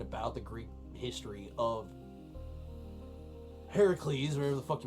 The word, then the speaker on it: Heracles: Hercules Hercules Hercules hurt Hercules or Heracles as as he's properly pronounced and isn't really our